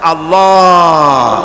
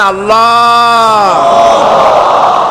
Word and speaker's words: আল্লাহ: আল্লাহ পাকের নামকরণ হচ্ছে আল্লাহ মুখটা একটু গোল হয়ে যাবে বলেন আল্লাহ আল্লাহ সুবহানাল্লাহ পৃথিবীতে বিভিন্ন